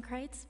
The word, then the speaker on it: Crites: your testimony uh Crites please go ahead and you pronounced it correctly thank you uh so my name is Christ and I flew in